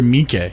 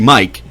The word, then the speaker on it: Miike: Is it Miike or Miike?